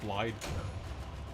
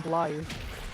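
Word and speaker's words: Blaidd: name is pronounced Blide. Yeah, it is actually Blide, but I don't do that. No one does. The other characters keep pronouncing his name Blythe.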